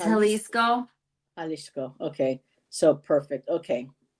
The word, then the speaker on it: Jalisco: pronounce that right so I don't think you pronounce a j like an American J so it be halisco halisco um let's see and Jus